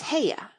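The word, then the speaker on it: Haigha: His name is Heya." He pronounced it so as to rhyme with mayor.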